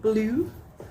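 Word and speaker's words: Bleu: So this is called Blue, but it's spelled like B-L-E-U.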